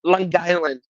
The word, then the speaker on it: Long Island: was from Long Island he said I did pronounce that correctly it's all one word longland and um he and